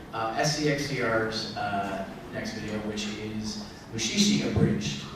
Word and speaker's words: Mushishi: So next we're going to show SCXCR's next video, which is Mushishi Abridged. It's actually pronounced a little differently. It's Mushishi Abridged.